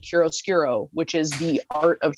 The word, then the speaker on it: chiaroscuro: Yeah, it's spelled charo, but it's pronounced chiaroscuro, and it is what makeup artists referred to, because the only people that did contouring, were people that were in films.